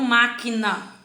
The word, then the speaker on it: máquina: Aí eu tenho máquina. Máquina. Então a sílaba tônica é no má, né? Ela é a sílaba mais forte.